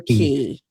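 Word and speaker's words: Cay: Do you say K or key? Key. I think it's key.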